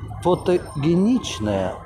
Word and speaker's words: фотогеничная: Я говорю, вообще-то правильно-то произносится фотогеничная.